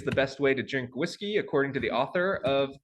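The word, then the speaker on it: WSGI: whiskey so this is this wgsi is pronounced like whiskey the web server Gateway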